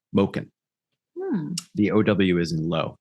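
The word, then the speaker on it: մուկն: flim not butchering that but in the phonetics it's it's supposed to be ow as in oh no sorry low so moken moken the ow is in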